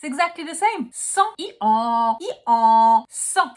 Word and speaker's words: Centre: For the second part of the word, it's written R-E, not E-R. You can't pronounce it you have to pronounce it tr. It's exactly like when you're gargling. And the E is not here to be pronounced. The E is only here to tell you to pronounce the R.